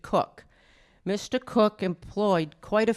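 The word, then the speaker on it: Coke: Now, in 1849, there was a wealthy landowner also in England, and his last name was C O K, but he pronounced it Cook.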